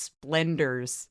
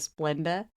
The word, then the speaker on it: Splenda: mom's accent and how she pronounced splendors instead of Splenda.